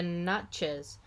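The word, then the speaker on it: Natchez: burial mound builders like the naches okay so this tribe is spelled n-a-t-c-h-e-z mound builders huh let's see who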